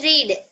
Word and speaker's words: read: Well read. Well read. Well read. Well read. For read, past form is also read. R-E-A-D is same spelling, but pronunciation is different.